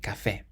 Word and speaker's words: café: Then we have a word meaning coffee, and it ends in an E, but there's an accent on the E, so we say café.